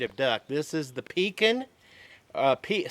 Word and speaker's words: Pekin: duck this is the Pekin Pete some people pronounce it Pete keen as P eki in Peking duck originated from Peking China